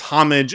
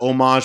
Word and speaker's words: homage: Tyler was insistent that the way that you pronounce it is homage and that homage was incorrect. Oh my gosh! And so we Googled it on the stream, and both are correct. You can pronounce it both ways.